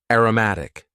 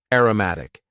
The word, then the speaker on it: aromatic: Next, we had an adjective, aromatic. Aromatic. And please focus on the pronunciation here. Aroma as a noun, aromatic.